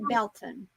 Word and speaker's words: Baileyton: We have a town near us it's spelt Baileyton, Bailey ton, Baileyton, but they call it Belton.